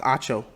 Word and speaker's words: Acho: Once again, okay, so his last name is pronounced Acho.